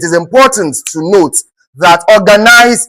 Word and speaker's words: organize: important to note that organize is a 3-syllable word. It is not in this form. If you have this now, you'll have a 4-syllable. But if you have to check the number of syllables of ORGANISE, it is what? 3-syllabic words and not what? And not 4.